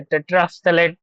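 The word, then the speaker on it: terephthalate: इसको ध्यान से देखो, टेट्रा PH THALATE, टेट्रा, ये साइलेंट हो जाता है, थैलेट, ठीक है, टेट्राफ्थलेट पढ़ते हैं हम लोग इसको।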